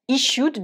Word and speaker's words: issued: Issued, donc là c'est un verbe to issue qui est régulier au prétérit, donc vous allez juste lui ajouter un D et vous le prononcez de.